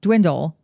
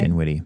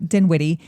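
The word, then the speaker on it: Dinwiddie: So, Governor um Dwindle, did I say his name right? Denwitty. Denwitty.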